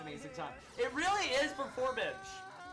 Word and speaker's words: Performage: time it really is performage it's not even perform it's performage like p e r f o r m like hypen i d g like Bridge Okay uh who we